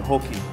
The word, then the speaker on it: hoki: and a kilo of hoki, please? Thank you. Excellent, Paul. Hi. Hi, mate. How are you? Not bad. I think you'll find they're pronounced tarakee, blue warahau, and hoki.